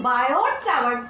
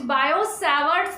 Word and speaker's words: Biot-Savart: Hello students, today we are going to start Biot-Savart's law. It is not the Biot-Savart's law, it is Biot-Savart's law. T is silent in it, and this law is